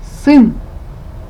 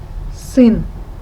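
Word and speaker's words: сын: word is sin sin i understand that to pronounce this sound it will be a little bit difficult so let me help you i will explain how to pronounce it first of all please uh try to say the sound and then make a smile okay then smile please and you will hear this sound um i will make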